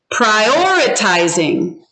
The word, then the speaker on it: prioritizing: Prioritizing. Prioritizing. Which syllable is it on? 1, 2, 3. Prioritizing. So hold up your fingers. I see Edie saying 2. Do you agree? 2.